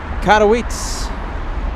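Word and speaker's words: Katowice: Uh Roman says it's pronounced Oh my goodness. Although the message went away. Uh Katawitz.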